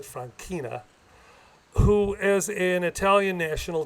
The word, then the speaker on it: Franchina: I would like to tell you a story about my grandfather, Biagio Francina. Actually, they pronounced it Franchina, who, as an Italian national, joined the American Army in World War I.